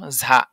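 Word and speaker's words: ز: যা এর উচ্চারণ আছে যা উচ্চারণ কেমন হবে যা সামনের নিচের দাঁতের আগা হতে শীর্ষসহ পাতলা ভাবে আদায় হবে যা ঝা এই ঝা টা অনেকটা ঝার মতন শোনা যাবে ঝার মতন যেমন আছে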